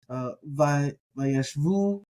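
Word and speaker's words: וַיֵּשְׁבוּ: We get Vayeshvu. And you notice that the Beit in these is not going to have the dagesh, so it gets that V sound.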